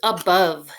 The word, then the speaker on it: above: It's an A in the beginning. It's the schwa sound. That's why you hear in the beginning. Above. You also have the letter O making the sound and a silent E at the end.